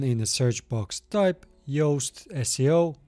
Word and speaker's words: Yoast: And then in the search box, type Yoast SEO. It's spelled like toast, but with Y, and then install it.